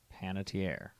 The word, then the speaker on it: Panettiere: Okay, there are 4 syllables. Panettiere.